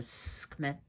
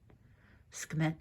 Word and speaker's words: Sekhmet: And her original, and her, you can also pronounce her Sekhmet. Sekhmet, like a hiss.